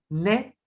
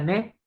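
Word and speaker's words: ναί: Bueno, nai es sí, de hecho en griego moderno sí es ne, ¿vale? Se pronuncia ne, ¿vale? Hay en griego moderno se pronuncia como en francés, nai, ne, exactamente igual, significa sí en griego moderno.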